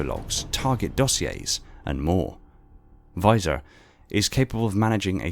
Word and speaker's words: VISOR: Visual Intelligence System Reconnaissance, abbreviated to and pronounced as VISOR, is a specialised data management system for MJOLNIR.